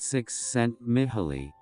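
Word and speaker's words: Csikszentmihalyi: willpower this psychologist me hile cheek sent me high pronounced six sent mithily has done more than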